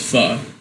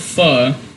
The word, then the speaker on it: pho: opened up his own restaurant, and it's not pronounced pho. It's pronounced pho.